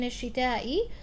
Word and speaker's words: الشتاء: Hamza has to be pronounced here in الشتاء.